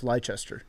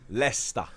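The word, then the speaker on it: Leicester: were a big deal we know how to pronounce lychester lesta so all right so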